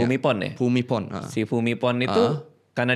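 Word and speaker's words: Bhumibol: Bumipon bacanya. Bumipon ya. Fumipon.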